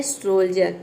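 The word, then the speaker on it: soldier: Next word क्या है, सोल्जर, देखिए यहाँ पे सोल्जर। अगला वर्ड है ग्रेंजर। इन सभी में डी को हम ज प्रोनाउंस करेंगे।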